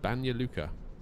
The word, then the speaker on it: Banja Luka: So we're heading over to, I believe this is how you pronounce it, Banja Luka.